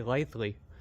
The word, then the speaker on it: Litheli: maybe it's just the website link to the lightly website that's how you pronounce it by the way lightly they actually sent me the pronunciation so uh